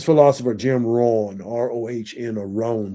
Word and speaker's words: Rohn: It was business philosopher Jim Rohn, Rohn, or Rohn. Some people, I always pronounce it Ron, but I think more people pronounce it Rohn.